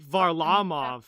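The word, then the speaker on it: Varlamov: like it's weird well most russian names or that i've heard put the emphasis on the middle syllable because that's how like var lamov it's on the law um yeah and i'm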